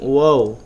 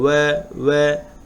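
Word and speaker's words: و: এই অক্ষরটার ব্যাপারে একটু বলে রাখি, আমরা পেশ এবং ওয়াও এই দুইটা অক্ষর উচ্চারণ করার সময় আমাদের ঠোঁট একদম গোল হয়ে যাবে, প্রায় মাছের ঠোঁটের মতো। উদাহরণটা একদম ছোট গোল হয়ে যাবে। ওয়া ওয়া ওয়াও হা হামজা ইয়া ইয়া।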